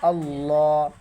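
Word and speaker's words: الله: লাম খারা জবর লা আল্লাহ এইযে এখানেও লা হবে না লা হলে পাতলা হয়ে যায় ল হবে কারণ আল্লাহ শব্দের ডাইনে যদি জবর থাকে তাহলে আল্লাহ শব্দের লাম মোটা হবে এখন বানানটা দেখেন হামজা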